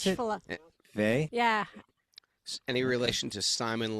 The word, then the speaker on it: Weil: Is She that how was you a pronounce French it? Vey?